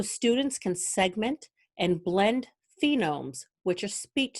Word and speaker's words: phoneme: fish, they place a token in a box for each phoneme they hear. I'm mispronouncing phoneme. It's actually phoneme.